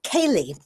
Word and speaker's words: céilí: And you know, I went to a a céilí. I thought I I've heard it said different ways, but it's spelled c e i l i.